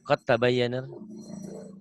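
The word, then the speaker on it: قد تبين: Ya, qad tabayyana. Qad tabayyan. Dalnya hilang ya, Mas ya. Ini rumusnya. Kalau ada huruf mati bertemu huruf bertasydid, huruf matinya jangan dibaca.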